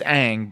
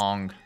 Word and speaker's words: Aang: It's Aang, but they pronounce it It's- Ong.